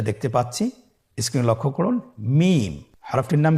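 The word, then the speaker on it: ميم: হ্যা দুই ঠোট চেপে ধরে আমরা উচ্চারণ করব।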